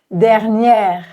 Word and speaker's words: dernière: En fait, les 2 E sont des E ouverts, enfin les 2 premiers E sont des E ouverts, cependant, il y a un accent uniquement sur le deuxième. Dernière, dernière.